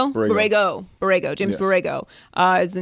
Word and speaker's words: Borrego: By the way, while we're mentioning it, James Borrega. James Borrega? That's how you say his name? You know how I say names. Borrego.